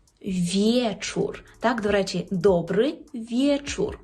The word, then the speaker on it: wieczór: є є ось тут коли у вас вже є і е отоді ми маємо повне право читати як є наприклад у слові вечор вечор так До речі добрий